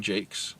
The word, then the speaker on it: Jacques: than the author brian jakes and you can look him up the last name is spelled like jacques um like jacques cousteau the redwall series is